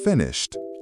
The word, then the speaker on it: finished: Finish ends with a sh sound, also voiceless, so finished is finished.